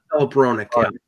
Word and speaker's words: Hronek: Hronek.